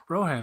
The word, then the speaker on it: Rohan: I don't know ran is that how it's pronounced oh wow Rohan okay cool Rohan see that shows you how